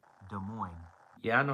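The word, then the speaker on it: Des Moines: De Mo. Yeah, I know how to say De Mo. The S is silent.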